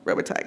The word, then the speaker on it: Robitaille: DaCosta uses an animation to depict the historical violence against Daniel Robitaille? I don't know. How do you pronounce his name? Y'all know. Robitaille, got it.